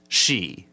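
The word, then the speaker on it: sidhe: now she is interesting it's spelled s-i-d-h-e but it's pronounced she okay so when you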